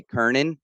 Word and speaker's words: Kanan: kanan but it's actually kernin that's how you pronounce my last name like like an e or or an i well anyway great job